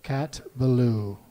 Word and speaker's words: Ballou: Cat Ballou Cat Ballou Cat Ballou not just adding a syllable to the word blue-blue both you're going both